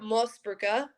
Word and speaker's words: Moosebrugger: we're on full names it's austrian and we say it most burka but canadian eyes they